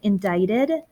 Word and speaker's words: indicted: of the way so the word is pronounced indicted doesn't look like it but that's literally how it's pronounced and it basically means